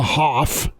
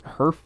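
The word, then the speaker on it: Höfer: I think it's Herf technically. It's Herf? Is there the umlauts over the O? Yeah. Then the O kind of makes more of an sound.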